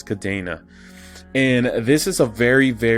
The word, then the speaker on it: Kadena: at kadena or kadena i believe the pronunciation is kadena and this is a